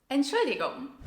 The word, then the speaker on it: Entschuldigung: It is a bit tricky to pronounce, so a helpful tip is to break it down into its syllables. Let's do this together. Entschuldigung. Entschuldigung.